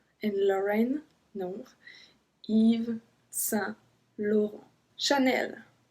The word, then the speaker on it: Chanel: low not sense in Lauren no Eva blue Chanel Chanel Chanel the crocodile Lacoste we Vito Vito I heard